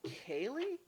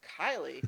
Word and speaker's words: Kylie: It's like, did they say Kaylee? My name's Kylie.